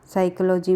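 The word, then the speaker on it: psychology: फिर आ जाएगा साइकोलॉजी में P हमारा साइलेंट होगा। फिर आएगा नॉलेज में हमारा KW और D 3 साइलेंट ध्वनियाँ होती है।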